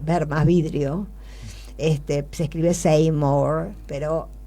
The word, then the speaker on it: Seymour: es simorgh las que cuya fonética es ver más vidrio este se escribe seymour